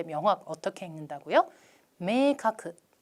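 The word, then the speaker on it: 明確: 메이카크 메이카크.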